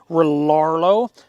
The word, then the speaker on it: Rlaarlo: it's spelled r-l-a-a-r-l-o so i think you pronounce it relarlo i'm not exactly sure and this is for